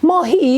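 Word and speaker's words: ماهی: For this he, I am going to tell you about mahi. Mahi. Look at here, the way I write mahi. Mahi is fish in Persian.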